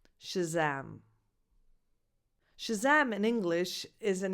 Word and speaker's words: Shazam: The stress is on the second syllable, so that vowel, the second vowel is defined and it's a, like the word cat. So the first vowel is not defined, Shazam, Shazam.